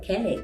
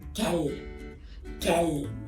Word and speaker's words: quelle: Porque la final no se pronuncia. Yo no ando por la vida diciendo quelle. No. Je dis quelle.